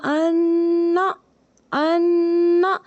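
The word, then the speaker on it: انّا: بند کر دیا ہے۔ جب ہم اس کی ہجے کرتے ہیں تو کیسے کرتے ہیں، حمزہ نون زبر ان، نون زبر نا، تو اب ہم اس کو کیا پڑھیں گے، انا، انا، یہ جو میں یہ والی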